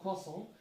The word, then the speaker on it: croissant: Oh, I have a YouTube short as well on pronunciation of croissant. Like, R is not really pronounced, T and S are also kind of silent only.